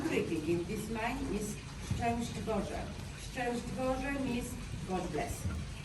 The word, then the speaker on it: Szczęść Boże: And the crowd of you, it's very difficult word to be pronounced. You have sh, sh, ow, sh, sh, together, disaster.